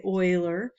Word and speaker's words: Euler: It's discovered by a man named Euler. That's how you pronounce it. You don't say Euler, you say Euler.